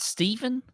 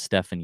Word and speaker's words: Stephan: It's not Stephen? He's German, and it's spelled Stephan. So I think it's Stefan Jaeger.